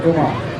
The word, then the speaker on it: Vermont: You got to say it like they say it, Vermont.